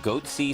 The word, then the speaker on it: Goatse: guys and they're Googling goatsy and they're getting the goatee picture they're called goat sea security is that my pronouncing that correctly yeah that's right we're analyzing coverage from